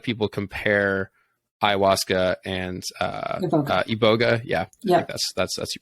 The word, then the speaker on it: iboga: a lot of people compare Ayahuasca and uh iboga yeah yeah that's that's you pronounce it but it's it's they they compare